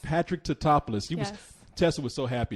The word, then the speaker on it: Tatopoulos: Tatopoulos. Patrick Tatopoulos.